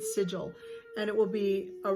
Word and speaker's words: sigil: The sigil are the signs, that's how you say it, sigil.